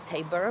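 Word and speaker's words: Tábor: related to a biblical name of Mount Tabor, or Tabor maybe with the English pronunciation.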